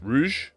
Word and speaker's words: rouge: Except it does have um the mold color rogue red rouge rouge. It's supposed to be pronounced rouge, but I'm not calling it that.